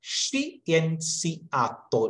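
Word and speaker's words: scienziato: അപ്പോ എസ് സി കഴിഞ്ഞിട്ട് ഐ വരുമ്പോൾ നമ്മൾ ഉച്ചാരണം നമ്മൾ ആദ്യമേ കണ്ടിരുന്നു, ഷി എന്നാണ് നമ്മൾ ഉച്ചരിക്കുക. എസ് സി ഐ, ഷി. അപ്പോ ഷി എൻ സി ആത്തോ, ഷി എൻ സി ആത്തോ, ഷി എൻ സി ആത്തോ എന്ന് പറഞ്ഞാല് സയന്റിസ്റ്റ്.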